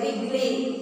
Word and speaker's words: wriggly: W-R-I-G-G-L-Y, wriggly. It is not wriggly, it is wriggly. W silent there.